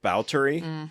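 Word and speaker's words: Báthory: also mixtures of like Elizabeth bowy which is for some people you might know it as Elizabeth ba because that's how it's spelled um but like the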